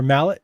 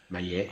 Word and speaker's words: Maillet: I have gone on or off about this guy before, Robert Maillet. Or Mallet, however you want to pronounce it, but I believe it's Acadian, so it's Maillet. Maillet, yeah.